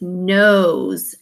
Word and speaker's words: knows: This is a silent letter combination. The KN works together to make the sound n. So it's not know, it's knows, as in I know something.